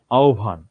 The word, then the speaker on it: আহ্বান: হয়ের সাথে যদি ব যুক্ত হয় তাহলে বয়ের আমরা মহাপ্রাণ উচ্চারণ পাবো। কেমন? আহ্বান, জিওভা। যদিও এখানে আরো একটু কাহিনী আছে, আমি বেশি জিনিসে যাচ্ছি না। অন্তস্থ ব, এখানে এটার উচ্চারণটা অনেকটা রাশিয়ান ওয়া এটার মতো।